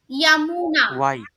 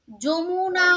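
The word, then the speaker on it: Yamuna: লিখবো স্পেলিংটা কি লিখবো ইয়ামুনা যমুনা নয় ঠিক আছে যমুনা নয় যমুনা বলে আরেকটি নদী আছে যেটা বাংলাদেশে ব্রহ্মপুত্র তাকে আমরা বলি যমুনা তাই অলওয়েজ যখনই মানে ইয়ামুনা পড়বে উচ্চারণটা ইয়ামুনাই করে পড়বে মানে মানে গঙ্গার উপনদী যমুনা এরকম ভাবে পড়বে না তাহলে মনে রাখতে অসুবিধা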